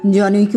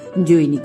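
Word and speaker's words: জনৈক: তুমি বলতে প্রথম চৌধুরী জনইকে উচ্চারণ করতে গিয়ে সর্বদায় জৈনিক বলে ফেলতে এমনি বহুতর ভয়াবহ ভুলে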